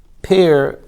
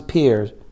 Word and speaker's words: peers: Appeasing one's pair before Yom Kippur. Did I say it right? What? Appeasing one's peers. Peers, okay. P-E-R-S. Yeah. Peers.